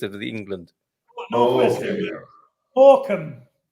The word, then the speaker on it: Morecambe: Frank, have you ever been to Maracambi? Mary, who can be? Maracambi. What's on the that? northwest coast, northwest coast of the England. Northwest England. Morecambe to the English. Okay. But the Americans pronounce it Maracambi.